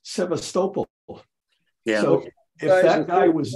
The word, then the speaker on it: Sebastopol: name of the city Constantinople or no um Sebastopol then you hear a native speaker it's Sebastopol yeah if that guy was dead you'd never